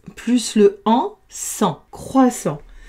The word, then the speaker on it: croissant: Deux s entre deux voyelles, ça fait s, s plus le en sans croissant. J'ai oublié de mettre le t en gris puisqu'il s'écrit et ne se prononce pas.